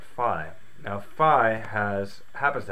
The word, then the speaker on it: phi: math mathematical number Pi we look at that I like we don't call that P we call that Pi so to me that's region enough to go with this pronunciation for now so for the duration of the video I'm just going to call it fi now fi has happens